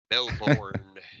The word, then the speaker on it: Melbourne: melbour yeah Melbourne MB wonder if you're supposed to say it like you live there or say it like you don't live there because you don't live there I think we should say like we don't live there Melborn exactly and then and then those